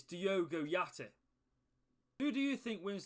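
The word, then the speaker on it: Diogo Jota: his name now obviously i know that it's not diego giotti it's diogo yachty who do you think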